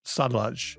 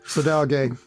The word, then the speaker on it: Sadalage: Is Building Evolutionary Architectures, Automated Software Governance by Neal Ford, Rebecca Parsons, Patrick Kwa, and Pramod Sadalage. Am I saying his last name correctly? Sadalage. Pramod Sadalage. Yep.